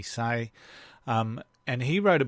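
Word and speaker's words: Hsieh: who founded Tony Sai I think you pronounce his name Tony sayi um and he wrote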